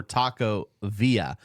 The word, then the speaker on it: Taco Villa: it Taco Villa or Taco Via proper PR pronunciation I can't even pronounce pronunciation correct proper pronunciation is v i l l a the two L's make a y sound if we were to